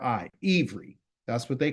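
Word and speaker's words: עברי: okay then you say I'm a Hebrew and it's spelled i v r i ever that's what they call it okay so an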